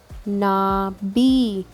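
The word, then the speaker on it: 나비: Nabi, not bhi, b.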